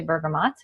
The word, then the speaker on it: bergamot: would apply to this because it has the bergamot in it and I just learned recently some people say Bergamo and some people say bergamot and our bergamot is sourced in Italy and